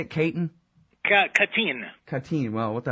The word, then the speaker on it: Katyn: Is that how you say it, Katyn?